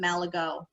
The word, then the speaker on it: Malaga: malaga island in fifthsburg most of the locals call it malago oh so it all so much just like with anything in maine it all depends where you are as to how you pronounce it this is dessert mound